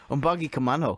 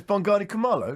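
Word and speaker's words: Bongani Khumalo: without looking come on i'm buggy commando no no it's bongani kamala you everyone knows mongani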